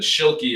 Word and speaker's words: Schuli: Um, but Schuli is how you pronounce it.